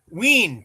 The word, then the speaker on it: Ween: Ween to rhyme with Yeah, I figured Dean.